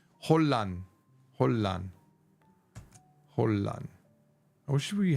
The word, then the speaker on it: 혼란: Even though Japanese is rang, when Korean goes N to an R, it becomes ul. So this is Oh no, it's Hollan.